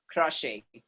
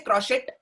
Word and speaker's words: crochet: For example, crochet. Do we say crochet? No. Shit हो जाएगा फिर एकदम वो. That's what crochet. Crochet.